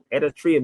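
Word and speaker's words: Eritrea: say Moses parted the Red Sea but it's pronounced Eratria means Red Sea so the story they told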